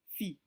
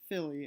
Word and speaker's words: fille: When there's a double L, it's more pronounced like a Y or an E instead of the letter L. So let's look at the word for girl, fille.